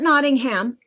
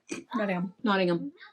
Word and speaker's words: Nottingham: Not Nottingham. Nottingham.